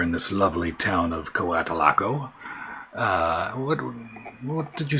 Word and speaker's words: Coatalaco: Yes, it's Coatalaco. Coatalaco. It's just like it's spelled. C-O-A-T-A-L-A-C-O. That's Coatalaco syllables.